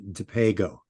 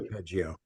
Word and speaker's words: DiPego: Jerry pronounces it with a hard G. So it's actually DiPego. Got it. Thank you. DiPeggio, which I like DiPeggio, but it's not. It's DiPego.